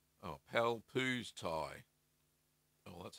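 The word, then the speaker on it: Pálpusztai: Eagerly waiting for your Limburger recipe, since it's the closest to our local famous Palpuszatia. Oh, Palpuztai.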